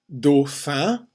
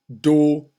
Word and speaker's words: dauphin: Dauphin. Again, we have the AU sound. Dauphin. We don't really pronounce the N when it follows an I because it's a nasalized sound. Un dauphin.